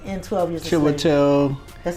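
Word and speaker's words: Chiwetel Ejiofor: Yeah, but his name is, I want to say Chidawell. Chidawell. I can't pronounce his name, but he played in 12 Years a Slave. He was the person in 12 Years a Slave. Chiwetel.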